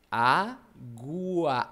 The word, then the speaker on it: água: Água. Água. Tem o som do U e tem o som do A. Isso é ditongo. Duas vogais, entre aspas, juntas, na mesma sílaba, cada uma com o seu som.